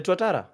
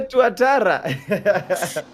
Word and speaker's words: Tuatara: That vehicle, the Tatara, you don't know the Tatara. How How don't you know the Tatara? The pronunciation is is funny. What is it? It is a tuatara.